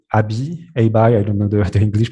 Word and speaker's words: ABBYY: And they were using a company called ABBY. I don't know the English pronunciation for that, ABBYY.